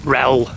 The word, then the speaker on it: Rhyl: Make sure I get my pronunciations right. we call it Rel, Rhythin.